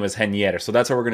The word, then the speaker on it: Reinier: this guy's name is henier is it not henier i'm pretty sure because brazilian people and portuguese people have this way of pronouncing these types of names right like henrique right